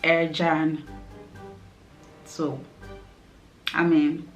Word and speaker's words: Ercan: Just like the North Cyprus airport, that everyone who comes pronounces it as Erkan because it's literally ERCAN, but no, it's Turkish and it's pronounced Ercan.